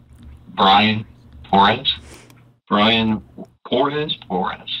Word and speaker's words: Porez: Porez. Spell it for me, bud. Give it a go. P-O-R-E-Z.